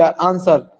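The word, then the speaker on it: answer: senior कोई specific करेंगे which is the silent letter in the world is approval है एन एस डब्ल्यू आंसर आंसर हम बोलते हैं तो आंसर में कौन सा शब्द चुप सा रहता है एन एस हम इस अवसर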